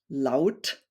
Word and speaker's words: laut: So it's pronounced Au, like loud, shout. And German words are similar: laut, laufen, kaufen, Auto, for example.